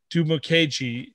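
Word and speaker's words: Dimukeje: edge rusher out of duke victor uh uh do mckay i i even wrote it down how to pronounce it uh duma keiji from duke sorry victor um tay gowen out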